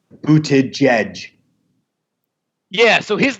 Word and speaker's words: Buttigieg: It's like J. It's like J-A-E-J. Jedge. It's like Buttigieg.